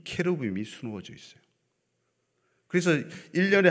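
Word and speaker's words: כרובים: 원래는 발음이 케루빔입니다. 케루빔. 케루브 복수가 케루빔 이렇게 되는 것이죠.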